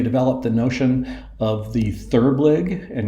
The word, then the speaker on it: therblig: Together they developed the notion of the therblig and you'll notice that is Gilbreth pronounced backwards.